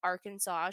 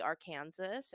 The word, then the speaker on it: Arkansas: a ongoing joke that Arkansas should really be ar Kansas as that is how it's spelled and I is really